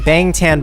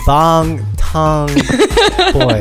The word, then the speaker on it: Bangtan: call us out for saying bangtan boys it should be long tongue does that correct Stephanie